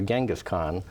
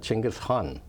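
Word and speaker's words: Genghis Khan: uh of um well I guess the American or standard pronunciation is gasan but the Mongolian pronunciation is chingas hun but uh so let's use the American uh pronunciation for the purposes of this discussion genas Khan was was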